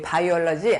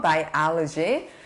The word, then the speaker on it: biology: 요구르트 이름 중에 바이오도 있고 바이오는 어떤 생명 그래서 생물학을 발음은 biology래요. biology 우리 바이올러지 아마 여러분 이렇게 대답했을 것 같은데 발음 잘 해보십시오. biology 그때 바이오 같은 말이에요.